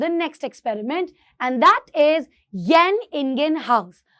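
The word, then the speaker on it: Jan Ingenhousz: Experiment, एंड that is येन इंगेन house. अब इसको कैसे बोलते हो, वैसे ये जैन लग रहा है लेकिन ये येन से प्रोनाउंस होता है, येन इंगेन हाउस।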